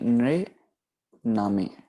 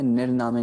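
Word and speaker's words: ਨ੍ਰਿਨਾਮੇ: सही उच्चारणता हमारे पास हो जाएगी नृनामे, ठीक है, नृनामे, ठीक है। निर्नामे गलत उच्चारणता हो जाएगी क्योंकि निर्नामे में हम जो है स्यारी के साथ ररा लगा रहे हैं, पर सही उच्चारणता जैसे बाकियों पर हमने रूल इस्तेमाल किया वही रूल यहाँ पर इस्तेमाल होगा, निर्नामे उच्चारण किया जाएगा, ठीक है। नृनामे, नन्हे के साथ डायरेक्ट ररा, ररे के साथ स्यारी, नृनामे, ठीक है जी।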